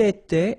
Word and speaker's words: était: Il était, elle était, final T not pronounced.